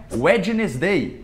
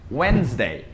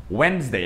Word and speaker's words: Wednesday: Que não é Wednesday, é Wednesday. Wednesday. É como se esse D não existisse.